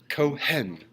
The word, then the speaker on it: Cohen: I always pronounce that H way too much. Cohen.